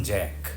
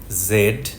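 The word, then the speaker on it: Z: British ফ্ল্যাগের নাম union Jack American ফ্ল্যাগের আলাদা কোন নাম নেই তবে অনেকে স্টার স্প্যাঙ্গেলড বলেন ইংরেজি বড় বর্ণমালার শেষ বর্ণ ব্রিটিশরা বলে জেড আমেরিকানরা বলে জি অনেক শব্দের মধ্যে ঢুকে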